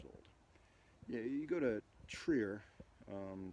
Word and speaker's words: Trier: like 2,000 years old yeah you go to Trier um Trev depending on on how you pronounce it uh that was a little Celtic